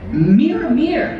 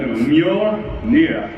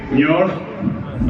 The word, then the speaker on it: Mjolnir: How do you say it? Mjolnir? Mjolnir. Mir. No. Mjolnir. Mjolnir. Repeat after me. Mjolnir.